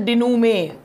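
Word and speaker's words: dénouement: तो इसका आंसर है, आपका डिनूमे का आंसर है resolution, and the pronunciation is डिनूमे।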